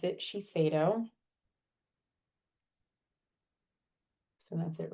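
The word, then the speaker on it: Shiseido: And that's how you pronounce it. Chico.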